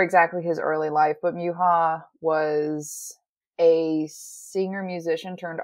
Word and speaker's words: Mucha: and by the way I didn't know that you are supposed to pronounce his last name as like either Misha or muha yeah that's I think check us the Czechoslovakian way of pronouncing it oh I like